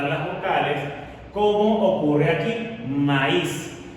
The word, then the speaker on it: maíz: Bien, fíjate que en el caso del maíz, la vocal cerrada, la vocal tónica cerrada es